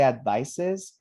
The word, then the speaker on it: advice: advises right this one it's a noun and it's pronounced like an s advice no vibration all